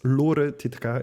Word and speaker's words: Lore Titeca: So there she is, Lore Titeca, in case you were wondering how to pronounce her name.